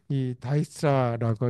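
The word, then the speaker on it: Dijkstra: dsts이 다이스트라고 읽어요.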